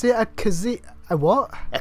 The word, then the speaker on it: Khajiit: khajiit oh zippy oh you're how do you pronounce it a kazee a what a khajiit okay right okay okay let's go quick we